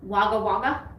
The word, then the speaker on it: Wagga Wagga: you say it how do you say it wagga wagga okay that's as good as it gets wagga